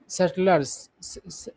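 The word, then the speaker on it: subtle: यूज किया है सब सटलर्स, ये जो है सटल से सटलर बनना, तो सटल में क्या होता है, बी का उच्चारण नहीं होता।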